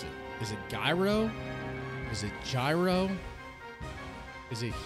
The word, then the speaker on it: gyro: I went to and the guy pronounced it hero hero hero like with an h y elbows it's like